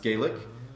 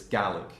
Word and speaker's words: Gaelic: So not Gaelic. In Ireland, it's pronounced Gaelic, but in Scotland, it's Gaelic.